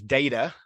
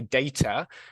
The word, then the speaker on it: data: So they pronounced it as data, okay, because it's American English. In British English, we'd say data. But there are also lots of places around the world where this is pronounced differently. I know my colleague Andrew, who's here today, would pronounce this as data.